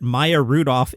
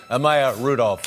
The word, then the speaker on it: Maya Rudolph: gentlemen and my Rudolph alright it appears that Maya Rudolph is the correct pronunciation of her name now let's listen to